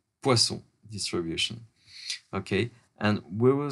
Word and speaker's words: Poisson: poisons a Poisson distribution let's pronounce it in France because it he was a Frenchman Poisson distribution okay and we